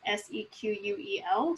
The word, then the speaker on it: SQL: they're both widely accepted before SQL existed as a language it was abbreviated as seq UEL so it was called sequel initially and some people still